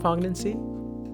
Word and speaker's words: poignancy: Is that how you write poignancy? Poignancy. Poignancy? The quality of evoking a keen sense of sadness or regrets. That's a new word then. Poignancy? Poignancy. Poignancy. Poignancy. Poignancy. The G is silent.